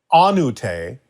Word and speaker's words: Ahnutay: Ahnutay, that is how it's pronounced, Ahnutay, is a combination of Atlantean and Egyptian.